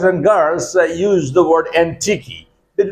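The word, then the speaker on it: antiquey: A N T I Q U E Y. Antique. The pronunciation of this word is antique.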